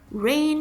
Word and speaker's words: rein: you raid it in rain it in r e i n here rain means to hold back and it sounds exactly the same like the word r-a-i-n raining but two very different